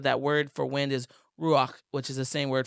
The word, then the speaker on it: ruach: So, the spirit, it says the rua. Did I say it right? Ruach. Ruach. A little better.